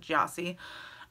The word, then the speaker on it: Gyasi: a previous video but I recently watched an interview with her and that's how they pronounce it gyasi and I loved this